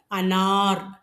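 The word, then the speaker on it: अनार: உச்சரிக்கும்போது பாத்துக்கங்க. அனார்.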